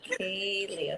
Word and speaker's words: Calei: But it's Calei, okay. Mm-hmm. And how do you pronounce your last name?